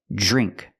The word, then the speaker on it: drink: drink drive and address we see Dr together we make the sound J like Juice Plus the r and put it together again drink Drive address this is the correct pronunciation of these words but when you say